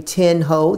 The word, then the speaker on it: Thien Ho: to the district attorney you'll see my name tin ho that's t-h-i-e-n it's pronounced tin win with tin and the last